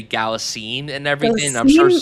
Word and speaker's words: Galitzine: Galitzine is how it's spelled written out. Oh, So I'm gonna just say Galitzine and everything.